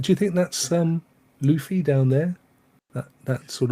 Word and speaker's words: Luffy: else would the road chris says it's pronounced luffy well i can't help that it's got two f's in it i mean come on so luffy but anyway he's a